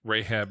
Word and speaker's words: Rahab: background that i have rahab is just spelled like it sounds r-a-h-a-b rahab's heart um